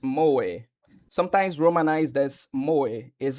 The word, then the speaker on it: moe: Moi, Japanese pronounced moi, sometimes romanized as moi,